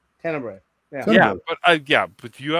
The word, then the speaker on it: Tenebrae: in public because I've never known how to pronounce it properly, which is Tenebrae. Tenebrae.